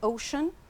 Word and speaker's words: ocean: Yes, the North Sea to the east and the Atlantic Ocean to the west. So here we pronounce the sea, sh, ocean.